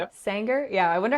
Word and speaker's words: Sanger: Sanger, California. Yep. Y Sanger.